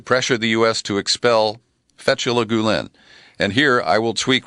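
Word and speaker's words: Fethullah Gülen: Fethullah Gulen.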